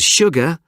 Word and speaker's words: sugar: in the winter months sure and sugar are the only two words in the English language that begin with Su and are pronounced sh scientists use sugar to